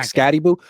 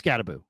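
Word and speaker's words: Skattebo: predicting they would take ScattyBibboo or or how I think I'm pronouncing. Is it not is it not Scatty Boo? It is Scataboo.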